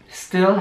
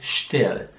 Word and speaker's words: still: Nur das ST am Anfang ist halt anders. Es ist nicht still, sondern still.